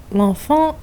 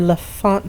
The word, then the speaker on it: L'Enfant: Picking up my Fallout 3 Let's Play at exit to either L'Enfant or L'Enfant Plaza, depending on who's pronouncing it.